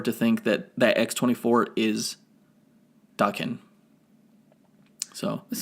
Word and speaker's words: Daken: No, it's pronounced Daken.